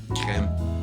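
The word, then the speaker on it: crème: How do you pronounce the word C-R-E accent M-E? Creme.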